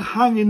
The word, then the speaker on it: hangin: And to say it properly, as I say, drop the H, drop the G.